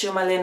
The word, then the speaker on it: sjomajlin: Because I just say it like it's sjomajlin on Instagram and Ravelry, and it's a bit weird spelled, so.